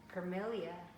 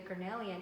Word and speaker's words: cornelian: orange tourmaline is another one and the uh carmelia excuse me cornelia which i actually should pronounce it properly since i use it a lot the cornelian is is one of my favorites and i